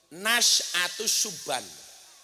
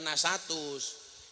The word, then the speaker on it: Nasyatus Suban: Nasyatus Suban, bukan nasatus.